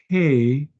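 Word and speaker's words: ה: Aleph, Beit, Gimel, Dalet, Hey. And notice there's an open spot in this letter. So it's just like an H sound.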